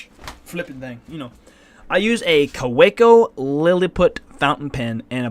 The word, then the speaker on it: Kaweco: Kaweco is a German company. The W. Oh, Kaweco. Okay. Pronounces the W.